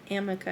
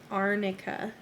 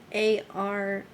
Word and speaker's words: arnica: that wrong right yeah it's not amica it's arnica arnica yeah so she missed a whole letter and then changed one to a different one yeah a-r-n-i-c-a arnica and she says amica